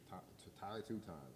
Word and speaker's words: TYX2: TYX2. Ty 2 Times. That's how you say it.